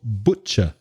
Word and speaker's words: butcher: tastes if possible now be careful of the pronunciation of butcher b-u-t-c-h-e-r the vowel sound the first vowel sound in butcher is o so that's the same sound as words like took look put foot notice the sound doesn't